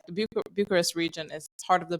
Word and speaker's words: București: I would pronounce it in Romania. It would be București.